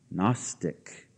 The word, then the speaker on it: Gnostic: want to spell that gnosis is spelled with a G but it's silent and the Greek word for knowledge Gnostic again silent G Big G silent g means we seek knowledge